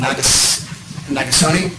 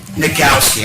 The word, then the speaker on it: Nagowski: And we also have, how do you pronounce his name, Nagasone? Mike, the CEO of the Cape Fear River Valley Health System. Nagowski, I mispronounced that, I haven't met him personally